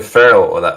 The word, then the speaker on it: Færø: great to be here so my last name would be phell that's how I would pronounce it in English anyway so all right well